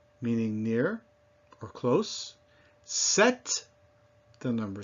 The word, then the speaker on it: sept: Sept, the number 7. Pêche, meaning peach. Now, you can see that these are not all spelled the same way, but they all have that same sound, eh.